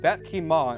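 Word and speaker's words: ขี้เมา: The noodles originate from Thailand and are pronounced Vat Ki Ma in Thai.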